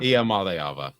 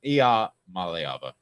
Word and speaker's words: Iamaleava: I just pronounce it like this. Iamaleava. Iamaleava. I got it. Iamaleava.